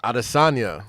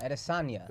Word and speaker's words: Adesanya: Adesanya. Adesanya. Yeah. Sonia. I thought Stop you said it. a little differently than that, but whatever. Point all is- good. Adesonia.